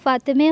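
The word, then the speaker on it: فاطمه: لوگ پڑھیں گے فاطمے۔ پرشن میں فاطمے ہوگا، اردو میں فاطمہ ہوگا۔ اردو میں مدرسہ ہوگا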